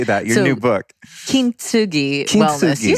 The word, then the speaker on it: Kintsugi Wellness: Kintsugi Wellness.